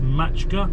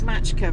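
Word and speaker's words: Maçka: a little place called It looks like Macka to me. I think it's pronounced Matchka. I think it's Matchka from the way they pronounce their seas, but not sure.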